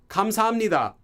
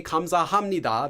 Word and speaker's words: 감사합니다: So people aren't going to say 감사합니다, they say 감사합니다. The H sound disappears.